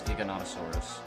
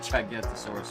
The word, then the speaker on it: Giganotosaurus: But there is an actual dinosaur with very similar spelling, but the way it's actually pronounced is Giganotosaurus. Okay. Apparently. It's fucking stupid, because I used to call it Gigantosaurus all the time.